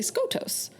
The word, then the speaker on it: Skotos: mhm so for sure Hawk then speaks up saying it's actually skotos and Poppy was right his family comes from that region and therefore knows the proper pronunciation and then Huck is